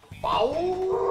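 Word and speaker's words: FAW: FAU se escribe F-A-W y se escucha FAU.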